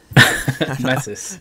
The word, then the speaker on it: Metis: Is it Mutes or Mets? Metis. Metis.